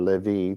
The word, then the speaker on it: Levi: It's the tribe descended from Levi, or Levi to say it right, especially set aside by God for his service.